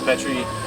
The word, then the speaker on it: Petrie: We're here with Phil Petrie from Petrie. Petrie. Like I said, how do you say it? Petrie. That's how you say it.